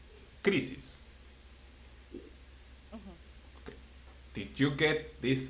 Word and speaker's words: crisis: And the same with the last syllable, with the last word, which is ends with an s or s. So the one before the last one is crisis.